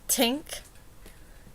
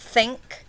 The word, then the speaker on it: think: They give that dental sound, so it's tink. It's not think, it's tink.